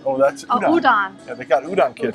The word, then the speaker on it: udon: Uh here's a I don't know what the I can't pronounce those. Udan. Oh, that's udon.